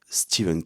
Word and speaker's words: Stephen: Je vous présente Steven King. Je dis Steven parce que c'est la prononciation anglophone et parce que je me la raconte aussi en disant Steven.